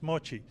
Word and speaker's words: mochi: the what you called Mochi that's actually the Japanese name in Taiwanese they call it Moji and uh in Japanese it's Mochi so it's the it's